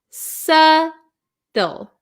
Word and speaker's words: subtle: We also have a silent B. So, we pronounce this word subtle.